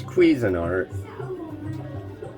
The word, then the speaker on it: Cuisinart: cuisinart but it's like i see how it's spelled it's cuisinart it's not lean it's cuisine remember a